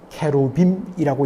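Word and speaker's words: כְּרוּבִים: 그리고 이 언약궤를 덮는 뚜껑 역할을 하는 속죄소라고 이야기하는데 그 뚜껑 위에는 바로 좌우에 날개를 서로 향하여 펼치는 그룹, 정확한 히브리 발음으로는 케루빔이라고 이야기합니다.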